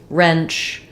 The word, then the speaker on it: wrench: um reek wreck um wrench uh wretch Etc that W is a hold over from a a previous spelling and pronunciation so you can just think of it as not even making any sound there so we're starting